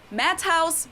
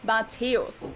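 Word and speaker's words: Matthäus: from my intro the one and only not matt house but lota mateos just like the other two he's also a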